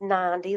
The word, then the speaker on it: Nandi: Hello, everybody, and it's Nandi like Gandhi. Oh, sorry about that. Nandi, I want to be respectful.